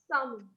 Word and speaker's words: salmon: This is salmon. The L is silent.